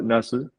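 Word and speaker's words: 茄子: is uh it's also read as na NAU nasu so the word of achievement is is the same pronunciation as the word EET and so dreaming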